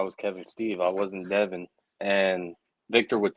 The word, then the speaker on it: Devan: like I I would be like man it's Devin he just couldn't say it and then finally